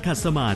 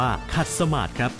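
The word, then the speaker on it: ขัดสมาธิ: เล่ม ท่า นั่ง ขัด สมาด เป็น ท่า ที่ นิยม นั่ง กัน นะ ครับ ไม่ ว่า จะ ทำ สมาธิ หรือ ไม่ และ คำ ๆ นี้ ต้อง อ่าน ว่า ขัด สมาส จึง จะ ถูก ต้อง และ คุณ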